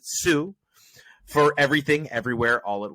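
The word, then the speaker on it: Hsu: or pardon me Stephanie I believe you pronounce it sue for everything everywhere all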